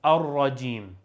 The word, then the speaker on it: الرجيم: The last word here is ar-rajim. Ar-rajim. The ra here is pronounced heavy because it has a fatha on top, as you can see.